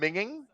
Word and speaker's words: minging: Minging?